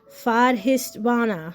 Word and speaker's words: Svadhisthana: All right, so now we're moving on to orange, which is the sacral chakra, which is pronounced svadhisthana, hana.